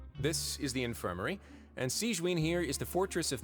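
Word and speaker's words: Sigewinne: But thank you for your concern, Sigewin. Sigewin. Tamam. Then you must be here for those two. Evet. Allow me to introduce you. This is the infirmary, and Sigewin here is the Fortress of Merapede's head nurse.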